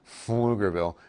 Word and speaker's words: Pflugerville: okay but it'll impact pflugerville maybe round rock and by the way that's pronounced flugerville every time i see